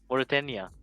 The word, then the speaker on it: Mauritania: Mauritania. Yes, nice country. And the Lions released, and interesting enough, I don't know if this is a error or this is his name. Mauritania had number 27 named as AK-47.